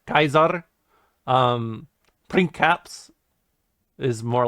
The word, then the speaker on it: Caesar: so like you know Caesar is Kaiser um PR caps is